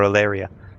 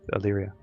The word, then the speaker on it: Illyria: as you guys are awake the bullet for alaria alaria sorry I'm gonna get that name wrong until it's drilled into my head Illyria so leering that yes the crackle of the